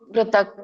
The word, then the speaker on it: ಪೃಥಕ್: ಕೆ ಮತ್ತೆ ಪೃಥಕ್ ಪೃಥಕ್ ಇಲ್ಲಿ ಎರಡು ಕ ವ್ಯಂಜನ ಇದೆ ಹಾಗಾಗಿ ಹಾಫ್ ಹೇಳಬೇಕು ಕ ಅನ್ನಂಗಿಲ್ಲ ಕ ಪೃಥಕ್ ಪೃಥಕ್ ಹೀಗೆ ಹೇಳಬೇಕು ಸರಿ ಇನ್ನೊಮ್ಮೆ ಹೇಳಬೇಕಾ ಅಥವಾ ಹೇಳ್ತೀರಾ